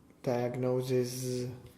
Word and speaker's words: diagnosis: Diagnosis. So the first one is? S. And the second? Z.